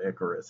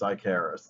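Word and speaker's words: Ikaris: character's name is not icarus it's icarus now when i was a kid i pronounced that i charis because it had a k and because that's just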